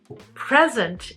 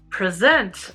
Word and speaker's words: present: Clearly, even though these words are spelled the same, by placing the stress of the word in different areas, you change the meaning completely.